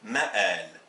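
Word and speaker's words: مآل: Ça c'est le M, ça c'est le alif et c'est le L, donc c'est mal, mal. Mais si j'écris cet autre mot, le mim, le mad et le lam, là je ne prononcerai pas mal, je prononcerai le mad tout seul, donc je dirais ma'al.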